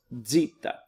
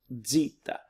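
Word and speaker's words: ζήτα: EPS alone the next is a DZ sound it looks like a Z or a squiggle here but as a DZ sound it's Zita Zita then the next looks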